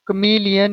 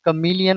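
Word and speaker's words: chameleon: The true कमीलियन is small, ये कमीलियन होता है, कैमेलियन नहीं होता है। कई बार इसको जो है गलत प्रोनाउंस करते हैं हम।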